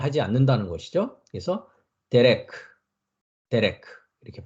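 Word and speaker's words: דרך: 그 다음에 레시 밑에 마찬가지로 쇄골이 있습니다. 레시는 리을 발음이었죠. 그러니까 레가 되겠죠. 그 다음에 카프. 피읍 발음이죠. 그래서 데레크 합니다. 데레크. 데레크. 데레크.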